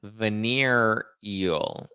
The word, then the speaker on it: venereal: Michelle says it's pronounced venereal.